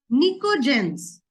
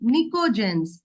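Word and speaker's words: pnictogens: तो इट इज निकोजेंस, NICTOGENS, निकोजेंस बोला जाता है।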